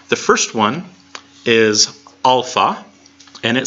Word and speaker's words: alpha: and it sounds like the AH and father alpha alpha alpha alpha yeah there is no app and has sound angry so they can't say caps or cap or anything like that there is no app